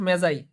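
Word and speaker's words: Magi: মেজাজ কি collective noun উচ্চারণ কিন্তু মেজাই অন্য কিছু না ঠিক আছে আচ্ছা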